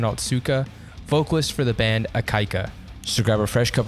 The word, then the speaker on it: Ikaika: This is Gavin from Still Proud, and with, if I'm pronouncing this correctly, Ikaika?